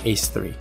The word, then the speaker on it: A3: this is Dance Dance Revolution A3 which is pronounced ace3 question four in the